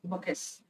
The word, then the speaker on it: bouquets: Your T is silent, bouquets.